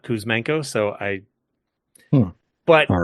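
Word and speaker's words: Kuzmenko: And my brain still keeps trying to add a syllable to his name. My brain thinks it's Kous Manenko, not Kousmano.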